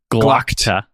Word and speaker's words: Glokta: Is it Glock? How do you pronounce Glokta. it? Glokta. Glokta. Glokta. Yeah, Glokta. Okay.